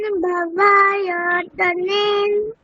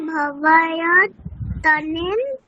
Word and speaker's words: ভাবয়তানেন: দেখো নয়ের নিচে কোনো হর্ষন্ত নেই, মানে অকার আছে, তাহলে ভাবয়তানেনা, তাই তো? এরকম বলতে হবে।